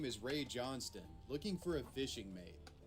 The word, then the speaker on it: Johnston: And I know it looks like John Stone for you American viewers, but it's pronounced Johnston in the Australian dialect.